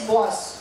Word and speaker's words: was: जैसे डब्ल्यू ए एस, डब्ल्यू ए एस इज अ word, right? And इट is said एज बॉस. बॉस बोलते हैं डब्ल्यू ए एस को, right?